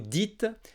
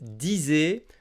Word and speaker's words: dites: du pluriel à vous il faut bien dire vous dites et non vous disez comme certains peuvent faire l'erreur donc souviens-toi vous dites